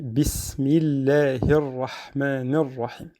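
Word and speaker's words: بسم الله الرحمن الرحيم: On a un mi. Donc en arabe, c'est el-kasra. Donc mi. Donc on ne dit pas bismillahi. Donc c'est un peu difficile, même c'est pas très beau à entendre. Et on dit bismillahirrahmanirrahim.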